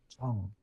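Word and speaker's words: 정: Um so the Korean package has a Chinese character on it uh which is pronounced chong and chong means like affection, love, care, etc.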